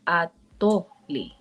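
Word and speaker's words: atolli: So because there's accent words, there's words that intonate usually the second syllable of the Nahuatl language. So let's see, let me think of a word like atoli.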